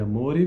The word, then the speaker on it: amore: Il pianista Schroeder conosce bene l'utopia, infatti pronuncia la parola amore con la O chiusa.